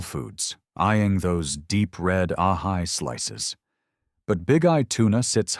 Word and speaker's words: ahi: Big-eye tuna or ahi tuna, pronounced H-he.